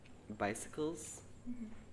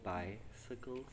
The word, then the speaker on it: bicycle: the countryside the word bicycles the the emphasis is on the first syllable bicycle bicycle and the last